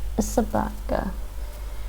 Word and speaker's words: собака: Sabaka. In this word, the letter O is not stressed, and we pronounce it as yeah, true.